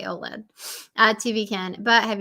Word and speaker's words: OLED: how you say you just say it right OLED yeah that's right you say OLED uh TV can but have you ever thought